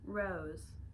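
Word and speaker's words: Rowse: only heard Rose pronounced I always thought Rose knitwear was r o e it's R WS like rose like the rose in your knitwear anyways um so yeah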